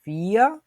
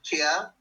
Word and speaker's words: vier: 2কে বলে সোয়াই, 3কে বলে দ্রাই, 4কে বলে ফিয়া, 5কে বলে ফুনফ। আমরা যারা যারা উচ্চারণ করতে চাই, যাদের আগে জিনিসগুলো শেখা আছে, তারা উচ্চারণগুলো বলার চেষ্টা করব।